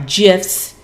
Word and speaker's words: GIFs: including gifts i'm sorry gifs they made sure to to see and i always have to remind myself that the g is pronounced like a j um easier when you're